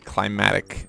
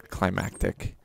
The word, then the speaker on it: climatic: saying the name wrong it's climatic survival not climactic even though it is